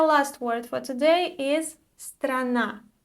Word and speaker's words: страна: And the last word for today is страна. Страна. So, despite the fact that we have 3 consonants together in this word, usually it's not that difficult to pronounce this word.